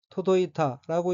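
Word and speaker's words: 届いた: 다음 원인은 한자가이를 계자이고 일본어로는 토도이타라고 읽으며 토도이타는 닿다, 이루어지다, 두루 미치다는 뜻의 자동사인 토도의 과거형으로 토도이타는 닿았다는 뜻입니다.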